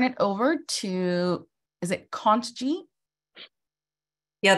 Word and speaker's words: Kontji: over to, is it Kant-G? Yeah, the T is silent, but everybody murders it. So I just don't even, you know, say whatever you want. My apologies. No. My name is Kanji.